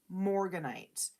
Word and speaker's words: morganite: god am i saying it right yep floral morganite um la vietnamese it is the most gorgeous